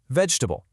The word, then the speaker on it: vegetable: Vegetable, but you'll almost always hear it pronounced with just 3. Vegetable.